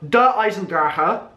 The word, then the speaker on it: Der Eisendrache: Der EISENDRACHE. That's what Dempsey says. Just like I've been saying for the last couple of weeks, with so many people like, oh, you've been saying it wrong. Nope.